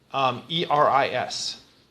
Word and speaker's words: Eris: Is it pronounced Aries too? E-R-I-S. Okay, well I said Eris, and that's the one that I was just wondering. Aries is A-R-I-E-S. Yeah, that's another. Yeah, it's different.